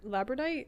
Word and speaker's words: labradorite: can't pronounce this um this is a labrador labyrd or not it's not lab or labradorite yeah that's exactly what it is yeah um this is